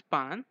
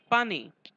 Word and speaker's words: पाने: पान it's plural is पाने. While speaking, पाने is pronounced as पान. The last न with dot on its with last न with dot on it is pronounced as a nasal sound न.